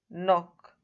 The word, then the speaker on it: knock: Here also we say knee, knife, knock, no. The K is silent and not pronounced.